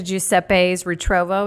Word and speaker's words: Giuseppe's Ritrovo: Listeners get to Jeppes Retrovo.